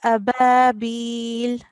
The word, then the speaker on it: أبابيل: Just to highlight that we do not prolong the alif. Tayran ababil.